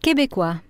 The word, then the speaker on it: Québécois: Am I pronouncing that right? How do I say that? Québécois.